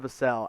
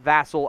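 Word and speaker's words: Vassell: the pick from the san antonio spurs devon vasel out of florida state and yes it's pronounced vasel not vassal as i was so mistakenly wrong about for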